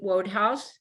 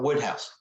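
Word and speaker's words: Wodehouse: an example from um PG Roadhouse am I pronouncing that right uh Woodhouse Woodhouse okay yes you told me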